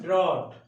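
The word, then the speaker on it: draught: हैं तो इन वन ड्रॉट, इन वन ड्रॉट, DRAUGST, DROUGST, ड्रॉट मतलब सूखा होता है जहां कहीं पानी नहीं बरसता है, लेकिन स्पेलिंग में DRAUGST लिखा है तो वहां पे घूंट हो जाता है।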